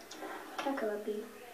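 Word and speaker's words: cacoepy: wey kaky Kaki may have the definition bad pronunciation Kaki c a c o e p y Kaki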